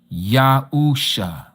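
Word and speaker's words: Yahusha: And so the name of the Messiah, if we were to spell it into English, ENL it would be Y A H U S H A Yausha.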